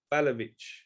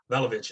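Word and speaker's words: Vlahović: Vlahovic. Vlahovic.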